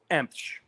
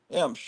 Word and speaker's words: Emsh: So how do you actually pronounce it, or have you ever actually tried to pronounce it? It's just Emsh. Emsh.